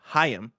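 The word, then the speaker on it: Chaim: in and say uh gardenberg's name is pronounced like hayam it's hayam gartenberg from the verge thank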